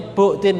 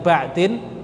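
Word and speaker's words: بُعْدٍ: Nah, di sini ada satu kaidah, al aslu fil bai'i an bu'din, bacanya bu'din ya, bukan ba'din, bu'din, al ibahatu malam yarid dalilut tahrim.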